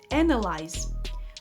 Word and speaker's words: analyze: The mistake here is in the pronunciation of the Y at the end. It has a long I sound. Analyze.